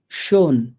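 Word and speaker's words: schön: এই 3টা মিলে একটা উচ্চারণ হবে, সেটা হচ্ছে স, মানে তালেব বিষয়ের মতো করে উচ্চারণ হবে। তো আমরা একটা উদাহরণ দিছি, শোন, শোন।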